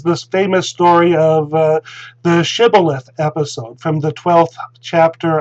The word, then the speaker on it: shibboleth: test to get across was to say shibboleth but the aphromites could not pronounce the shen and so when instead of shibboleth and they would say sibyllite or or something like that